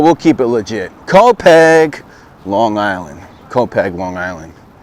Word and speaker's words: Copiague: Today we find ourselves outside the confines of NYC and into the area of copiagu copiagu copiagua copier copi copy actually it's pronounced copg long island debated on pronouncing it wrong just